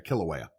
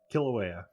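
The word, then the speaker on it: Kilauea: Or sorry, Kilawea. Kilawea. I mispronounced it and had to fix myself.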